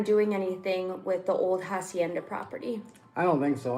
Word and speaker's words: hacienda: So if you guys don't know, I went to go see a really old hacienda, a Spanish hacienda. The H is silent.